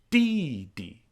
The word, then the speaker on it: 弟弟: And the same goes for fourth tone characters like ba, di, and mei. The full names are pronounced Baba, Didi, Mei Mei.